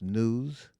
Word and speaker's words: gnus: that's a good one g-n-u-s spell pronounced news um so and there